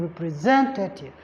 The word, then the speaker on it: representative: be here generous then for words that ends with IV for instance representative representative you're going to have it on the third SL that's why is stressed in representative do you understand then